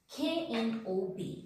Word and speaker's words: knob: Now, the last one is silent K. See, when K is sitting just beginning of the word and after K, N is there. In that case, silent K is applicable.